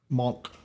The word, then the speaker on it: manque: They even use the reference manque here, manque, however he pronounces it. Monk.